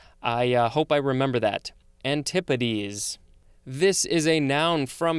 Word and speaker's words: antipodes: do you pronounce the plural version it is antipates that's how you pronounce it thanks guys i hope i remember that antipodes this is a noun from 1549 one the